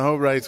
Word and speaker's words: Hobrecht: Yes, the Apostolos and the Hobrechts, we all understand how that comes out. His mom usually has a sign that says it's pronounced Hobrecht.